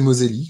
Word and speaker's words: Moselli: C'est José Moselli, donc comme ça se prononce, ça écrit comme ça se prononce.